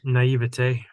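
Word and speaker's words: naïveté: I don't know, but it was my naivety. Is that how you say it? Naivety? Naivete.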